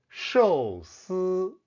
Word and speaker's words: 寿司: When Japanese pronounce these two characters, it sounds like sushi. But in Mandarin, the same two Hanzi are pronounced 寿司巴士巴士 was first